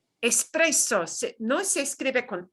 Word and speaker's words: espresso: Expreso. Espresso, no se escribe con X, ¿no?